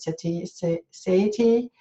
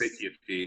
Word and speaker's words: satiety: Satiety gets. Satiety, yes.